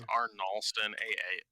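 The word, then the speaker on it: Arnahlstin: Now, is it spelled like Arnold, S-T-O-N, or is it Arnolston? No D. It's Arnolston, A-H-L-S-T-I-N. A-R-N-A-H-L-S-T-I-N. Okay.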